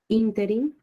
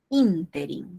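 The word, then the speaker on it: ínterin: Interim. Interim, o sea, se pronuncia como una esdrújula.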